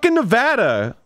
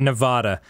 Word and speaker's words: Nevada: not Nevada.